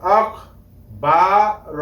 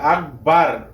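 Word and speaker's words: أكبر: তাহলে হামজা কাফ জবর আখ বা র জবর বর আখ বর আমি এখানে বর বলছি বার বলি নাই অনেকেই বার বলে থাকে আকবার এটা ভুল হবে বলতে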